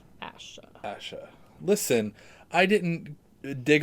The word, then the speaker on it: Asha: banner crap now we're not anymore i'm taking aisha asha asha listen i didn't dig on the fact that you pronounced margaery wrong yeah you got to call